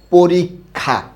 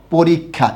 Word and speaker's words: পরীক্ষা: অয়ের পরের বর্ণে দীর্ঘইকার থাকলে অয়ের উচ্চারণ ও হয়ে যায়।